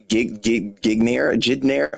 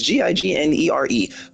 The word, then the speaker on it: gignere: I probably said that pronounced Gigner. I don't know. It's Gignere. Pronounce that how you will.